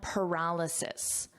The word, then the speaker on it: paralysis: So that syllable stress is different. Paralyzed, paralysis, paralyzed, paralysis.